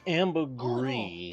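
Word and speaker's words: ambergris: often to waiting sh actually it's pronounced Amber gree processing a sperm wheel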